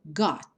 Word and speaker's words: got: muita atenção a elas elas são quase não pronunciadas como por exemplo got got você até pode